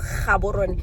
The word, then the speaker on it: Gaborone: So it's Ga Gaborone and Dumelang.